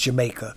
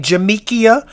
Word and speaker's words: Jamekia: So, and her name was pronounced Jamaica. So forgive me if I keep bouncing back and forth between Jamekia and Jamaica. Some people pronounce her name Jamekia because I watched a few podcasts.